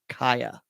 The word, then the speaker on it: Cieha: is the disappearance of kyah taylor and you spell her first name c-i-e-h-a yes that is pronounced kaya she disappeared february 6